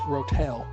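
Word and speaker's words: Ro-Tel: So, one can of drained rottle or as the as the Americans pronounce Rotel.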